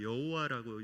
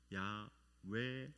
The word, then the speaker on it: 야훼: 하나님께 스스로 밝히신 이름은 우리가 여호와라고 이렇게 발음하고 있는데 이것은 성경을 정확하게 이렇게 표기하지 못해서 이렇게 나온 그런 발음입니다. 원래 신명사문자, 하나님의 이름을 나타내는 신명사문자를 있는 그대로 우리가 발음한다면 야훼 하나님이십니다.